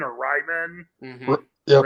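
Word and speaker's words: Raimann: I don't know how you pronounce his last name. I'm going to assume it's Raymond or Ryman. Mm-hmm. Yep, Raymond.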